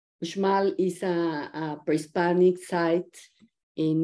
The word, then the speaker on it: Uxmal: The X in Spanish in Mexico can be pronounced as X, as J, like my name, Mexico, and also as sh, like in Uxmal. Uxmal is a pre-Hispanic site in Mexico.